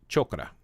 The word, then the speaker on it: chakra: is but it's pronounced chokra chokra so it's not chakra it's chokra but your crown chokra